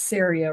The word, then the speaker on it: Ceria: even said it right it's Sera rhymes with area sometimes people don't get